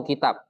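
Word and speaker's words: كتاب: Kalau yang tidak panjang, taknya bacanya apa? Kutub. Kalau yang panjang taknya bacanya kitab.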